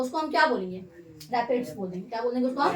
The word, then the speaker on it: raphides: क्या बोलते हैं इसको हम, क्या बोलते हैं इसको, हाँ रैपिड्स बोलते हैं, स्पेलिंग ठीक है, RAPHIDES, ठीक है।